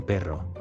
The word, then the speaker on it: perro: Yo tengo un perro. Tengo un perro. Well done. And don't forget to roll double R. Perro. Perro. If you forget, you will mistakenly change a dog into the conjunction word but.